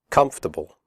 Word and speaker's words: comfortable: we say debt comfortable the word comfortable has three syllables not four the or is silent we say comfortable not comfortable comfortable clothes